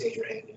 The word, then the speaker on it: Adrahan: I hope that's how you pronounce it. It is Adrahan.